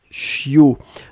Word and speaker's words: chiot: Le bébé de chien, c'est ce qu'on appelle un chiot. On écrit ça, c'est Chiot. On ne prononce pas le T final.